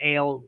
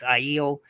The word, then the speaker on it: Aiel: Some call them Ale, but it's Aiel is how you say their name, yeah, and they're my favorite.